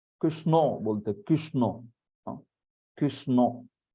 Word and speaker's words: कृष्ण: का ज्ञान होना चाहिए कृष्णा ऐसा उच्चारण होता है क क संस्कृत में कृ होता है रकार होता है कृष्णा न भी नहीं ण श और ण ऐसा होता है व आपकी जिवा जो